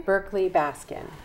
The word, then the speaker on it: Berkley-Baskin: how do you say your last name again berkeley Baskin Berkeley Baskin and so tell us about Sacramento